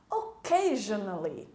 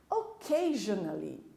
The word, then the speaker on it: occasionally: Occasionally. Occasionally. Essa palavra, quando vemos ela escrita pela primeira vez, sentimos uma certa dificuldade. Lembre da palavra queijo. Fica mais fácil de você lembrar como se pronuncia.